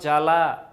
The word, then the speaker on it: জ্বালা: বলি সবদেশ বলি না তারপরে জ্বালা এটা কিন্তু জাবালা বলি না সাপদ সাবাপদ বলি না ধ্বনি বা হচ্ছে ধবনি বলি না স্বামী সাবামি বলি না তার মানে ব এর